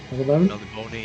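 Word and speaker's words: Melniboné: Melibone, yeah, everybody pronounces it differently, but the accent at the end maybe hints fantasy towards names.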